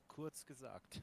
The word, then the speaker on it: Kurzgesagt: Kurzgesagt.